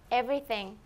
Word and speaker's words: Everything: 이 발음은 저보다는 레이나 선생님의 발음으로 듣도록 해보겠습니다. 자. 전부다라고 하는 영어 단어를 한 번만 얘기해 주실 수 있으시겠습니까? Everything.